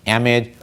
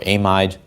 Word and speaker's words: amide: And the last possibility, depending on where you're from, is either pronounced amide or amide or amide.